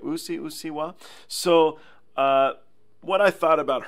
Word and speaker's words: うっせぇわ: I was pronouncing it wrong. It's Ussewwa, right? Is that right? Ussewwa.